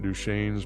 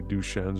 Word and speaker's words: Duchenne: me about it and I believe he was pronouncing it duchesne's but I look up the pronunciation and it's supposed to be duchennes it's spelled d-u-c-h-e-n-n-e and so we'll we'll provide